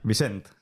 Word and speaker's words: Vicent: ¿Cómo se pronuncia? Vicent.